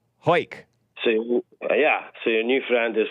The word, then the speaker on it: Hawick: So the town is spelled Hawick, and people try to say it's Hawick, but it's not. It is Hawick. Hake.